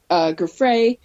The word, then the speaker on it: Giuffre: He just mentioned Virginia Giuffre. Tell me how to say her name again. Giuffre, I think it's Giuffre. That's what I think.